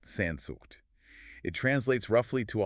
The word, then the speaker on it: Sehnsucht: It's pronounced Sehnsucht.